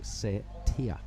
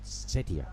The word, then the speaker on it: Setia: So the correct pronunciation is Tanjung Setia. Setia. Yeah, Setia. We'll lean on the T and the IA, the Tia, not Setia, as we've been saying.